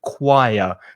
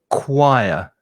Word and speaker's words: choir: of the pronunciation because you've got a ch there but the sound is k it's a hard k sound so choir and there's also an intrusive a sound so choir is the pronunciation people